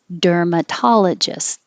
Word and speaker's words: dermatologist: gynecologist, gynecologist, dermatologist. I don't say t, I'm holding it there.